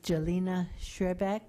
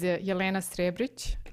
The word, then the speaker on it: Jelena Srebric: our second speaker and I need help with pronunciation is this jelina shrec from the University of Maryland please say your